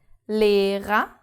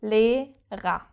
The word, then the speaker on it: Lehrer: The first R is pronounced because it starts the second syllable. And the second R is not pronounced because it's the last letter of the word. So, Lehrer. And it again just sounds like an A.